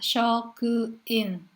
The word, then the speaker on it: shokuin: Meskipun dibacanya shokuin, ya, tidak menggunakan huruf G. Jadi cukup N saja. Shokuin shitsu.